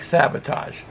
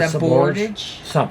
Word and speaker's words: Sabordage: It's a French. It's in French. It's it's like Sabordage. But Sabordage? Something like that.